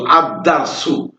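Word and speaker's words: الدرس: দাল এই হরফটি হরফে শামসিয়াত। তো আলিফ দাল জবর আদ, দাল রা জবর দার, সিন পেশ সু, আদ-দারসু। আপনারা বুঝতে পারতেছেন তাসদিদ আছে যার জন্য আদ-দারসু।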